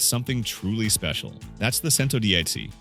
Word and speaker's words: Centodieci: The name might be tricky to pronounce, Centodieci, but the meaning is simple, 110 in Italian.